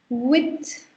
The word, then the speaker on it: huit: Then 8 is called with. With. And don't sound the her sound here because 8 is silent in French. So you've got to sound it as with.